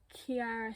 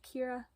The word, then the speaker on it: Kiara: montage by Kiara Smith, or is it just Kira? I know someone whose name is pronounced like this and it's Kira, and I know someone whose name is spelled like this and it's Kiara, so I'm going to say Kira.